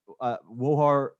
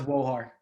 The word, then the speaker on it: Wohar: Wohar, I imagine that's pronounced like with an accent in some way No, from, no accent. yeah, Wohar. okay.